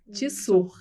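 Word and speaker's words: Tsur: Eu sou a Tissur. Vocês podem me encontrar no Instagram. letra T, letra S, letra U e letra R. O T é mudo. Tissur, tá?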